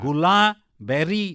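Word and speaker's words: Guillain-Barré: incidence কম হবে হ্যাঁ হ্যাঁ গোলাবেরি সিনড্রোম এটাকে উচ্চারণ করা হয় গোলাবেরি সিনড্রোম সিন্ড্রোম না কিন্তু কেন এই নামটা অদ্ভুত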